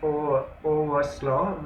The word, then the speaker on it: overslaugh: Its pronunciation is overslaw with focus on slaw.